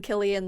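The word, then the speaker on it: Cillian: selian or Killian because everyone that night was calling him Killian Murphy it's Killian I think I thought it was San I've always said Killian kilan Killian is how they pronounce his name all night yeah I've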